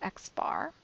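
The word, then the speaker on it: x̄: So for both formulas, the first formula, the English letter, is X with this bar on top, and it is pronounced X bar, and that is the mean of a sample.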